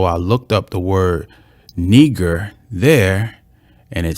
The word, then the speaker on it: Niger: It says Niger, but it says it's not pronounced Niger. Its pronunciation is Niger. Niger. It says it's of Latin origin. It means black.